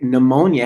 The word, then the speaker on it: pneumonia: teaching kids why do words like pneumonia have that silent p well you know what